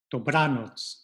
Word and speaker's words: dobranoc: Dobry wieczór, and then good night, once again, penultimate, second to last syllable, put that bra for the accent, dobranoc.